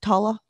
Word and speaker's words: Tola: Tola. Tola. Yep. Tola. Yeah. Yeah. And it's spelled like T-O-L-A, but I'm going to be